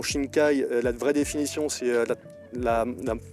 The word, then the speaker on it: Shinkai: La prononciation Shinkai, la vraie définition, c'est la mer profonde.